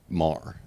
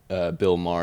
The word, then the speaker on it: Maher: it's a common question many people think mayor because of John but it is mAh Bill Mah that is his his